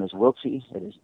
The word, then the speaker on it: Wiltse: And then your last name is spelled My last name is Wiltsy.